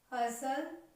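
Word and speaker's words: hustle: STL इज a combination, तीनों letter इकट्ठे हैं तो इनमें T जो है वो साइलेंट रहेगा और इनकी साउंड जो है वो सर, ठीक है। जैसे read this words, हसल, हसल मतलब भीड़ भाड़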